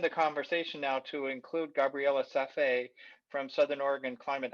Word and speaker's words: Gabriela: to uh expand the conversation now to include gabriella safe from southern oregon climate action network gabriella